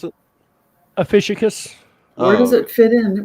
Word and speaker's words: Ophiuchus: Ophiuchus. In my how life, did you pronounce it? Ophiuchus.